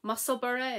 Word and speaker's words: Musselburgh: I have watched a few podcasts who've said that the way I pronounced it, now they pronounce it that way, and I was really proud of myself that I can say Musselburgh in the right way.